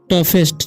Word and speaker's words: tough: एज वन ऑफ द टफेस्ट। ठीक है, इसे TOUGH से होता है टफ। ठीक है, GH का यहाँ पर उच्चारण फ होता है।